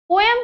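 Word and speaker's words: poem: पोएम को हम पोएम भी प्रोनाउंस करते हैं बच्चों और पोएम भी, दोनों राइट है। अमेरिकन इंग्लिश में हम पोएम बोलते हैं और ब्रिटिश इंग्लिश में हम इसको पोएम बोलते हैं।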